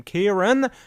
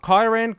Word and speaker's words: Kieran: Kieran, not Kyran. Kieran. Oh, fuck. No, Kieran. That's quite correct. That's how you pronounce it.